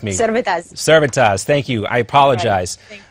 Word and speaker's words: Servettaz: I want to make sure I got the pronunciation right on that law, Elena, if you want to correct me. Servettaz.